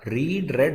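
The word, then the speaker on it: read: Spelling तो एक जैसे हैं, लेकिन दूसरे और तीसरे को रेड बोलते हैं।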